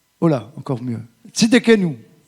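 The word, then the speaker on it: Tsidkenu: avait Tit que nous tit que excusez-moi la prononciation vraiment je suis désolé. Comment ? Oh là encore mieux. Tidenou. Tidquenou.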